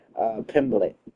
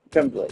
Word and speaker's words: Pimblett: Pimblett. Pimblett.